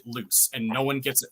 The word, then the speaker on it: Luc: So one character whose name is spelled L-U-C, you actually pronounce it loose, and no one gets it right the entire book, and it's a constant thing.